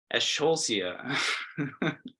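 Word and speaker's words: Eschscholzia: pronounce this genus and I pronounce it as scholzia escholsia but you could pronounce it however you want it's one of the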